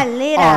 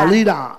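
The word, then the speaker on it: Alita: Así se pronuncia. Alira. Alira. Alira.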